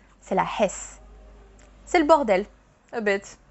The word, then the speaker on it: hess: follow the same rules, you do pronounce that H. C'est la hesse.